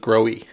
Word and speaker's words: Grohe: from this company and they pronounced it grow e alright so the installation